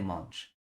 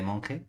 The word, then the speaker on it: Monge: Esto es francés. Es de las pocas palabras que aprendí cómo pronunciar en francés. Cartas de monge. Yo siempre decía de monje, hasta que en cuarto